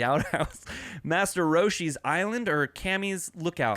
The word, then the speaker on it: Kami: and the answers are goku kami oh it's kami sorry kami kami bastard god damn it call me back spelled with a k it is k-a-m-e kami bastard's